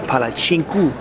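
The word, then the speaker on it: palačinku: language has the C, the special C, it's chink, like ch instead of sink. So it's palacinku for a pancake.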